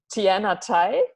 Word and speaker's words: Tianna Tye: community online and yeah today I'm speaking to Tien Atty did I pronounce that your last name correctly I know